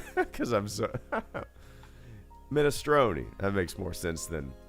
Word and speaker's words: minestrone: in the house it the super is pronounced mina stroney minestrone that makes more sense than mime strone y'all you call any